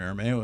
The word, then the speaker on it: Armao: Armao is how we pronounce it in the States.